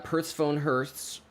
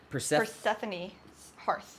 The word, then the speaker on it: Persephone's Hearth: And then Persephone Hearths. How do you say that one? Persephone's Hearth. Persephone's Hearth. Yeah, we've said that wrong.